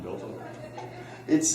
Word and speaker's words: del: What's that upside down delta? it looks like an upside down delta, but it's actually, I've always heard people pronounce this del.